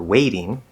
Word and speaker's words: waiting: point is is that that second syllable in waiting is not stressed so we hear even just in the word waiting okay it's not waiting